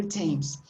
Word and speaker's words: Thames: famous it's not stains okay it's a different pronunciation for the th river thames uh this uh the origin of this name